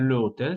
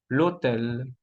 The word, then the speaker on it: l'hôtel: Le plus hôtel, H muda, no vamos a decir le hôtel, sino l'hôtel.